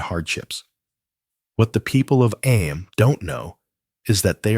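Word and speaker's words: Eyam: Am you know is pronounced just like them.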